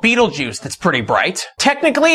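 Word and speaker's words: Betelgeuse: There's a star on the shoulder of Orion called Beetlejuice. That's pretty bright. Technically, it's pronounced Betel Jaza, but no one ever says it right.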